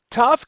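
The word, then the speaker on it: ת: will be the same so whether it has a dages it will still be pronounced T and whether it does not have a gesh it will still be pronounced T now here of course I'm still talking about the pronunciation not the transliteration so the pronunciation is going to be t as in tap or toe or um Tiddly Winks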